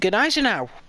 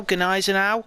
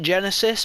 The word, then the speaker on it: Gneisenau: Uh and that means we're also on the Gnaz now. That is how you say it if I'm sure. I've been saying it for the past 5 years now. Ganis now. I used to call it Genesis, but yeah.